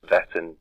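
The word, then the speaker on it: Wettin: sax coob Goa belongs to the house of pronounced veton but it's a spelled w e t i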